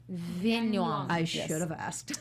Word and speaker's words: Viengluang: Did I pronounce that correctly? It was close enough. Yes. How you say it? Viengluang. Viengluang.